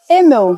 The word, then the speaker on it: Emmel: Eu nem perguntei como é que pronuncia o teu sobrenome, porque é Emel? Emel. Perfeito.